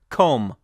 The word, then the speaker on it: comb: pretty obvious one if the letter B is followed by an M then the B is usually silent not all the time but often it's silent for instance we have comb what you use to brush your hair or bomb B OMB is just pronounced bomb not bomba the B is completely silent and some BT combinations these